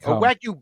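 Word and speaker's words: wagyu: did I go second wagu be famously comes from what island nation I'm sorry what wagu beef could you please spell that w a g yuu w a g y famously wag you beef oh I didn't know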